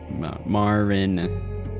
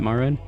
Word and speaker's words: marin: Come on, Marin. Yeah, that I'm thinking it's Marin. Is it? Is it Marin? Actually, do the last pronunciation you did, but without pronouncing the N. You don't pronounce the N.